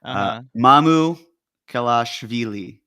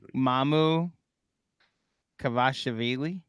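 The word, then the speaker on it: Mamukelashvili: you with the pronunciation, as the Basketball Reference would do it a little bit more phonetically, Mamu Kelashvili. Mamu Yes. Kelashvili. Mamu Kavashvili.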